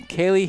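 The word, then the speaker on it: Ceilidh: Yeah, it's going to be Kaylee Higgins' first name. How do you spell it? I'll give you a hint. Don't use a K. C-E-I-L-I-D-H. Well done!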